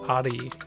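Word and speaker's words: 蟻: I find it funny that ant is pronounced ari in Japanese, and he says arigato.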